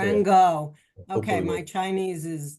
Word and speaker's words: Ran Gao: Oh, I think I've mispronounced it. Ran, correct me? Rango, not the doctor. Ran Gao.